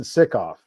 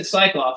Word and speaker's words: Sickoff: I pronounce it Sickoff. Sickoff. Okay. See, I said Psychoff, so I'm wrong.